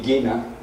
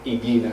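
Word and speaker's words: Ighina: The Italian genius Pier Luigi Igina, he said that in the centre of the sun is a heart that beats at the same rate as our heart.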